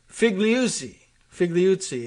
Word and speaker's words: Figliuzzi: Former FBI official Frank Figliuzzi, is that, that's the pronunciation I'll go with.